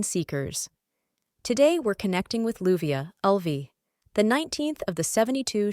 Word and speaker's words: Leuviah: Leuviah doesn't just restore your mind.